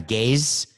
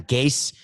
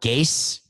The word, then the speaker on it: Gase: I thought it was Adam Gaze, as in I'm gazing into the future. But I'm hearing that it's Adam Gase that rhymes with case, and it's spelled that way. So Gase.